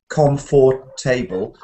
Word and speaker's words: comfortable: you realize this you realize that there's no table in it and there's no Comm so we don't have com com for table so that would be um quite a mouthful wouldn't it so we have comfortable actually the words in